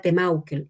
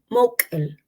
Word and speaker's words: Temaukel: supremo, creador de todo, se llama Temaukel, y no es así. Moukel, así se pronuncia, y eso no significa,